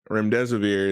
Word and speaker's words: remdesivir: Did I pronounce that correctly, Dr. B? Yeah. remdesivir as being a fantastic drug moving forward, fighting against COVID-19.